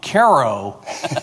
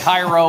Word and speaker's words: Cairo: Uh thank you for correctly pronouncing my hometown Caro, Illinois correctly. So many people get Cairo or Cairo or whatever.